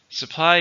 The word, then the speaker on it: supply: number 12 is supply supply is give something that is wanted or needed to be a verb or noun how many syllables supply to stress on the second syllable they are they are